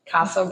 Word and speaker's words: Casa: here with me today the woman behind Kasa Kasa yeah that's how pronounce it I get it on try uh